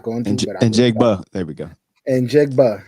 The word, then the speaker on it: Njigba: I mean, you talking about Njigba?